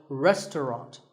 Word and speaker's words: restaurant: fancy spelling confuse you the second syllable is just ton and the third is wrought so restaurant in British English you might hear just two syllables restaurant that is also correct after you eat at